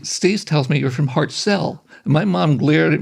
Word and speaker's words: Hartselle: was from I'm from Hartselle Alabama and he corrected my pronunciation he said Steve has pronounced Hartsell it's like I was